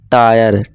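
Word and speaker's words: tire: जैसे कि फायर, वायर, टायर, टीरे नहीं दिखे दोस्तों, यहाँ फिर से हम ई हमारा क्या है, साइलेंट है, ठीक है दोस्तों, टायर।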